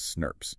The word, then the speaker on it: snRNP: It's made of these subunits called snrnps, which everyone pronounces snurps.